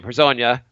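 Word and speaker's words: Hezonja: Like at the 3 and the 4 in this team, we got Lance Thomas, We got Hazonia. Herzanya. I've kind of learned how to pronounce his name. Herzanya, or you can say Mario, which is easier.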